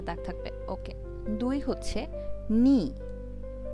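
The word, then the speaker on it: 二: Itchy উচ্চারণ হচ্ছে itchy. ঠিক আছে। ইচি একটা দাগ থাকবে। ওকে। দুই হচ্ছে নি।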